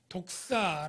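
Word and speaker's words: δόξα: 말로 표현하기가 쉽지 않은데요 헬라어 른 독사 라고 뱀이 아니구요 헬라어 발음이 독사 라고 하는 이 단어인데 이것은 지극히 높고 종리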